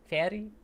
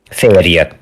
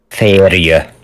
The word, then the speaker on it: férj: Like, Fairy? There's a J there, and I don't know why. A férj, the first one, husband. Férje. Fairy? Férje.